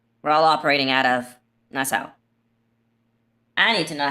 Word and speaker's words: Nassau: Okay, it says it's Nassau. With a stress on the first Nassau.